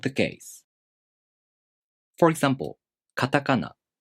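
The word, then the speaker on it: カタカナ: For example, katakana. The second and third syllables are pronounced higher in pitch, and the first and the last syllables are lower in pitch. Katakana.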